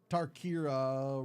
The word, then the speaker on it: Tarkir: Because I say it's Tarkir. It's Tarkir. It's Kir.